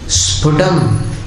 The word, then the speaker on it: स्फुटम: स्फुटम, स्फुटम में दोनों होठ मिलाना है।